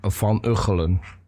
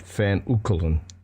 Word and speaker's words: Van Uchelen: It's pronounced Van Uchelen, not Van Uchelen.